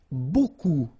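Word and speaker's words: beaucoup: bit strange like that remember you don't pronounce the final P okay and then you get this combination of vowels a and you get the sound o so technically it's B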